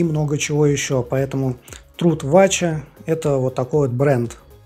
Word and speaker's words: Вача: типа в нижегородской области произносятся он вача то есть ударение на а дальше что такое труд